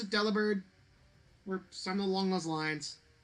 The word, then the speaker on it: Delibird: So is it meant to be pronounced Delibird? I assume so. Delibird. You still bird as one syllable, not lib-erd. But like, the name is definitely based on deliver.